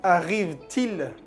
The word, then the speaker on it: arrive-t-il: Y arrive-t-il, se hace una liaison, se pronuncia la última T, til, arrive-t-il.